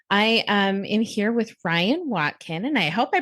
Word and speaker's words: Ryann: for having me I'm Ryan pronounced like the boy name I have an extra n on the end which I always say